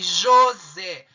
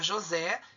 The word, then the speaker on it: José: E qual é a mais forte? A última. A última sílaba. Então, você identificou a sílaba tônica? É uma oxítona. E vai acentuar? Lógico, por quê? Terminou em E. José, oxítona terminada em E.